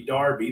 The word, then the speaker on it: Derby: They pronounce Derby, Darby, the King's Derby, or the Queen.